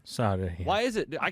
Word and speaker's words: Sade: Sadie, Promise, on vinyl. Go win it. And he's also... go ahead. Sade? Sade.